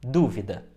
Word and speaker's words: dúvida: causa do acento agudo e pronunciando dúvida a sílaba mais forte é de fato o Du proparoxítona é o mais